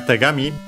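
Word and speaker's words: 手紙: And yeah, we have tegami.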